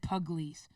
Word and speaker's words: Pugliese: They pronounce it Pugliese.